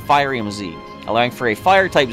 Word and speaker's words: Firium Z: What would you pronounce that as? Furium Z or Firium Z? I'm going to go Firium Z, allowing for a Fire-type Z move.